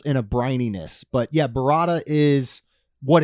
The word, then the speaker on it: burrata: Is this pronounced burrata? Yes, this is the burrata.